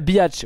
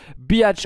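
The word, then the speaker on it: Bihać: moi on est à biatch oui ça se prononce comme ça je suis sûr de moi biatch on va chercher ici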